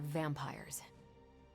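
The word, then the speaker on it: vampyres: The new breed I'm tracking are uh they're vampires. I see. No, I do not. You already said they were vampires. Vampires with a Y. Pronounced exactly the same as vampires.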